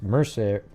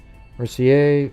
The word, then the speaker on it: Mercier: J.S. Mercer It's Mercier. So I don't know how that's probably a French pronunciation or something.